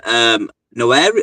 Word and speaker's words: Nwaneri: Noeri? I can't pronounce his name. Nwaneri.